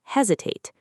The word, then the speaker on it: hesitate: The stress is on the first syllable.